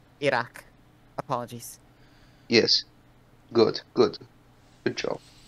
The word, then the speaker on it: Iraq: or something oh yeah I rock your mother don't say that again say it correctly or not or don't say it Iraq apologies yes good good